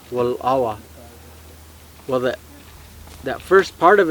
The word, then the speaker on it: Wallowa: I said, to me, that first part of it, that wal, because way we pronounce it is Wallawa. There's a little pause after on the L. Wallawa.